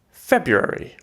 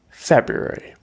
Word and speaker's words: February: very cold february not necessarily wrong but you can drop the first r if you like february february okay next you need